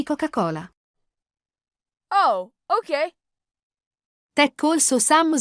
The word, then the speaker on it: Coca-Cola: So, due cocce cole. It's a proper noun. You don't have to pronounce it plural. Just say 2 lattine di Coca-Cola.